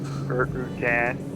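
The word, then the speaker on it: Rutan: Routan. It even rhymes with Tim Bert, doesn't it?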